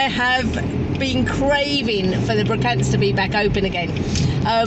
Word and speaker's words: Brocante: I have been craving for the Brocantes to be back open again.